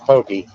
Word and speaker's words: poke: If anybody wants to know what a poke bowl is, and it's not pronounced poke, it is pronounced pokey. It's P-O-K-E.